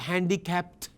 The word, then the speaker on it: handicapped: handicapped ไม่ใช่อันนี้เป็น verb ช่องสองแต่ว่าต้องใช้ handicapped เขาจะ sorry adjective he is handicapped okay เป็น T sound no handicapped no handicapped disabled ต้องถ้ามีดีต้องออกเสียงดีด้วย handicapped disabled